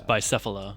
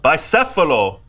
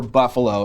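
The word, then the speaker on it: Bicéfalo: Buffalo. It's Bicefalo. Bicefalo. Oh, sorry. Right. Or sorry. We were assuming that the word stood for buffalo in English, but we were not pronouncing it in Spanish.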